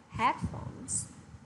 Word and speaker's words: headphones: Thế thì thay vì chúng ta đọc là headphones hoặc là headphone thì chúng ta sẽ đọc là headphones.